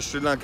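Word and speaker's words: Sri Lanka: literally rate here in srilanka is over %91 look how friendly locals are many people pronunce this country name as srilanka or shrilanka all are the same. but most srilankan pronunce it shrilanka this lake in the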